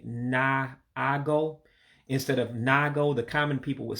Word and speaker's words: na-agụ: na and a dash, you don't pronounce the second A. So you eliminate the na-agụ. So it just ends up being like N-A-G-O. All right. So that second word ends up being na-agụ.